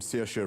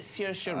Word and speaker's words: Saoirse: I'm particularly interested in a young lady named Saoirse Ronan. It's a name that's very difficult to say when you see it. It's spelled weird. Yes, it is. Saoirse Ronan.